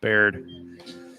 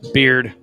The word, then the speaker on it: Beard: Good breaking stuff, Baird. It's Beard. I'm saying it wrong. It's Ryan Beard. But there's a Baird, Texas. I used to have cases up there. Sorry to the Beard family.